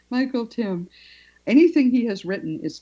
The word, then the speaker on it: Tymn: They're older books, but I recommend anything that Michael Tim, and his name is spelled T Y MN with there's an N. It's like him. It rhymes with him. Michael Tim.